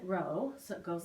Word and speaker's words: rho: kind of like our it looks like the letter P but you pronounce it Rho so it goes like